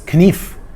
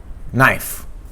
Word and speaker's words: knife: And same as in the word knife, it was knief instead of knife.